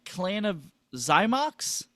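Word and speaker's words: Clan of Xymox: Clan of Zymox.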